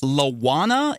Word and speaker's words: Lawana: Is it Lawana? Is that how it's pronounced? That's correct.